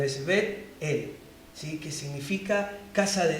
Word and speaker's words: Betel: Muchas veces nosotros lo pronunciamos rápido, Betel, pero podemos ver que en la pronunciación hay una pausa al medio, es Betel, ¿sí?